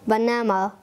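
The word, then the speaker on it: Banaba: and One race car island called banana almost sounds like bananas I love bananas but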